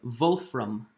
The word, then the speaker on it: Wolfram: from the German name vote from or Wolfram but in German they pronounced they pronounce w's like V's so vote from that